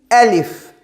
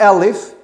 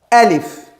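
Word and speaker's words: ألف: We say the name is alif. Not alif. Alif.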